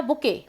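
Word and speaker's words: bouquet: बच सेट रो या बुके इसको बकेट मत पढ़िए बकेट तो बाल्टी हो जाति है यह बुक है इसमें टी साइलेंट राहत है तो देखिए तो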